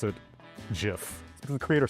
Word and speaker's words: GIF: It's a play on the peanut butter Jif as choosy moms choose GIF.